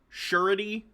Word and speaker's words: surety: Surety is how it's pronounced.